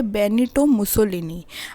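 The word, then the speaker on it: Benito Mussolini: सो Italy में ये फासिज़म आई थी और उसको कौन लेके आए थे, इसको लेके आए थे बेनिटो मुसोलिनी।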